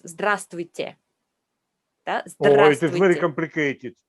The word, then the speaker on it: Здравствуйте: Another difficult bit is consonant clusters. It's many more consonants together. And that can be a real tongue twister. You see them straight away in the first lesson because the first word you learn is hello, a nightmare to pronounce.